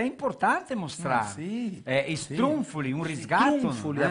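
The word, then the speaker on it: struffoli: Sì, strunfoli, un riscatto. Strunfoli, la pronuncia certa le strunfoli.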